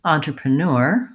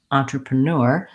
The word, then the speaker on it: entrepreneur: If I say it naturally, entrepreneur, entrepreneur, you can hear that the first three syllables, da da da da, are about the same length as the last syllable. So even though there's a lot of sounds happening in these first three syllables, they need to be fairly quick and light with unstressed vowel sounds. And neur is stretched out and longer.